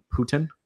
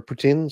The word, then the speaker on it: poutine: had a you know I'm gonna say it right Putin Putin Putin Putin I say it wrong it's been 15 years I lived in Canada I still say it wrong Jeff how do I say poutine is okay poutine or or poutine sorry in French but you know it